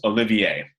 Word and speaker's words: Olivier: French composer Olivier messian his first name looks like it's Oliver but it's pronounced Olivier he lived 1908 to